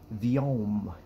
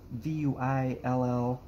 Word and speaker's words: Vuillaume: was a person by the name of Jean-Baptiste Vuillaume. V-U-I-L-L-A-U-M-E, I think it is. And Jean-Baptiste Vuillaume, I'm so proud of myself, I looked up on the Googles, how do you pronounce Vuillaume?